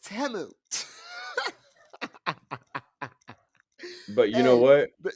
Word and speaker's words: Temu: and found out that teu is pronounced temu but you know what